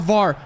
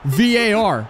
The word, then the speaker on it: VAR: Sorry, not VAR. VAR. Apparently, I'm saying it wrong.